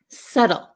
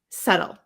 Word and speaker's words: subtle: subtle subtle okay so subtle subtle all right so we have suum Lim subtle subtle okay very good so let's get into what these words mean all right so we all have silent B so hopefully the pronunciation